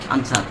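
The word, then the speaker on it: answer: উত্তর this is আনসার কি আনসার এন্সার না কিন্তু সঠিক উচ্চারণ আনসার বুঝছ আচ্ছা এরপরে দেখ গলাম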